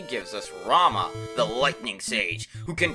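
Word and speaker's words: Ramuh: a thunderbolt and yes I pronounce it Rama even though the proper pronunciation is supposed to be Ramu but Rama is how I said it for years and I'm not going to change something that let's be honest doesn't really matter in the long run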